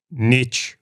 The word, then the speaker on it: niche: friend Keith would say Niche rhymes with Rich for a reason American